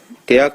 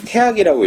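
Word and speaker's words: 大學: 대학 책은요. 원래는 이 태학이라고 읽어야 맞습니다. 원래는 태학인데요. 학교 이름이거든요.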